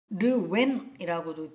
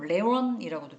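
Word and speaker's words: Lewin: 그다음에 어 변화 관리된 모델음 르웬이라고도 표현을 했는데요 다른 데서는 레원이라고도 표현합니다 어이 사람이 그 사람인가 어 영어식 발음이 르윈이라고도 얘기하고 레원이라고도 발음을 해요이 사람의 조직의 변화는 3단계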